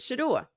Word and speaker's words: Shedeur: Uh it seems like every time they try to get rid of Shador, and that's the proper way to say it, I didn't want you in the draft.